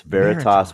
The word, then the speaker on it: Veritas: you just told me I'm sorry I just butchered the name of the company can you say it again before we it's Veritas Veritas wealth management yeah Veritas is a Latin word